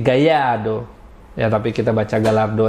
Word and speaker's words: Gallardo: penelitian yang gua lakukan bacanya bukan Gallardo tapi gaya do dan tapi kita baca